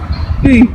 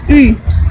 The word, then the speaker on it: Ы: Ensuite, la cinquième voyelle en russe, c'est le oui, qui se dit comme le dirait une native. Ü. Donc vous avez bien entendu la différence, moi j'ai dit un pseudo oui, et elle a dit comme le dirait une native. Ü. Voilà, donc c'est très difficile pour nous français à percevoir cette petite subtilité.